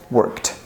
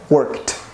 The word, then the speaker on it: worked: let's prolong this work no vibration so correct pronunciation is worked right worked your example is the